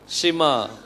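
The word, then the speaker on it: שמע: ஒன்னு ஒன்னா உச்சரிக்க போறோம் இது என்னது ஷி இது மா அதாவது ஷிமா எல்லாரும் சத்தமா ஐ இஸ்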